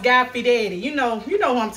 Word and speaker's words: Fieri: can nachos you might think his name is pronounced guy fiori like i did i used to think his name was guy piara because that's how it's you know look like